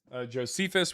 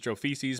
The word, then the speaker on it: Josephus: Oh, this is how many times uh people bring up Josephus, which most people pronounce as Josephises because they've never actually read Josephus.